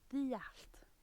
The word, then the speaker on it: Dduallt: Look, Dduallt. That's how you say it.